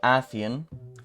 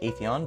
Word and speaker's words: Atheon: Now, this raid boss, Athian, I believe it's pronounced. Thank you, Bungie. We could have just had Atheon, but I guess it has to be Athian now.